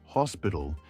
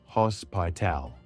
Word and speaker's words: hospital: Pronunciation tip: The word hospital is pronounced /hos.pi. A lash, not hospal. Stress the first part.